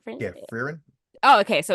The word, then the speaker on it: Frieren: Frieren? Yeah, Frieren.